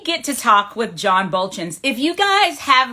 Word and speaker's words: Buultjens: moment i'm going to be talking with john bolton's am i pronouncing your last name correctly oh that's all